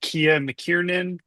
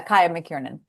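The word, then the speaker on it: Kiah McKirnan: And I hope I say her name right. Kia Mckinan plays Johnny. Ka. Kaia McKieran. Ka. Okay, I knew I would say it wrong.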